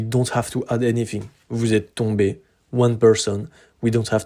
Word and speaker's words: tombé: The pronunciation is the same. Vous êtes tombé. Vous êtes tombé. Vous êtes tombé. Vous êtes tombé. Those four different configurations, they all have the same pronunciation. Then if we speak to